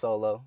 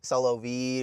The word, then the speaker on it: $0L0VV: yeah, it's pronounced Solo. Just Solo on its own.